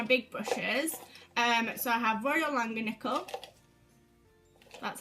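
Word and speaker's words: Royal Langnickel: So I have Royal Langanickle.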